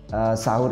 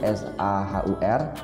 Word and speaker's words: sahur: Di Indonesia kita menyebutnya sahur, S-A-H-U-R. Di bahasa Inggris juga mereka menyebutnya sahur dengan ejaan yang beda ya, yaitu S-U-H-O-O-R, sahur. Oke, tapi tetap penyebutannya sahur.